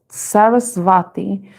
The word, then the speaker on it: Saraswati: The goddess Saraswati or Sarasvati. I think that's how it's pronounced, because I think the W is pronounced with a V. Sarasvati, the embodiment of language,